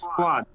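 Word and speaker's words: صاد: এই ফুল সদের একটা smaller version সদ, এটা থাকবে। সদ লেটার হয়তো আপনারা চিনতে পারতেছেন, যেটার নাম হলো সদ, যেটা বাংলাদেশে বলছি সোয়াদ। বাংলাদেশে কি বলতাম, সোয়াদ।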